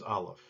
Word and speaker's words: Aleph: The transliteration for Aleph, because it's a silent letter, is just kind of an apostrophe. The sound that will come whenever you find an Aleph will actually be just the vowel sound.